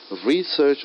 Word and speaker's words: research: you an example like normally in english we stress on the first syllable of a noun and second syllable of a verb so the word research is a noun i'm stressing more on the word re first syllable research is a noun and research is verb so this makes a